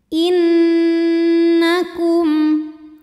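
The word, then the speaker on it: إِنَّكُمْ: Cara baca dengung, bunyi n tahan sampai ada suara masuk hidung. Innakum.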